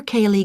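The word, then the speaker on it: Caillie: That's spelled Y-O-N-G-E. That's Young. I see. And your address? 15, Caper Cayley Gardens, Aberdeen.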